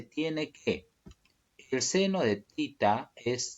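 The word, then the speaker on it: theta: Si tita, ya se dice tita, pero ya muchos lo pronuncian como teta, ¿no? Teta lo dicen ya y bueno, se acostumbraron a decir teta. Pero en sí es tita, ¿ya?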